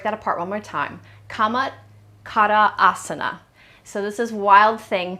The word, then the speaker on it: Camatkarasana: It is in Sanskrit, it is pronounced Camatkarasana. So we're going to say, let me break that apart one more time. Camatkarasana.